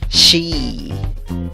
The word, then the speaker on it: she: Esa E con el guión encima significa I larga. Por lo tanto, la pronunciación de la palabra es she. She. Para esto debes de sonreír y estirar la I.